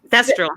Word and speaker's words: Thestral: Oh yeah, the Pestrel. Thestral. Okay. Thank you. Pestrel, yeah.